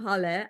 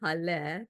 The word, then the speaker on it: Haleh: I am Haleh. I usually say it's pronounced like Hallelujah, Haleh, to make it easy for people to pronounce my name.